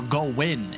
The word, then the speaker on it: Gowan: to get up to Gowan or go win is the better way to pronounce it yeah and I really